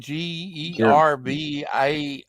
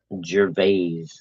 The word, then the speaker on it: Gervais: Gervais? Gervais.